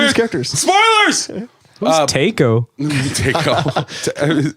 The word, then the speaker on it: Taako: Taco. It's spelled Taako.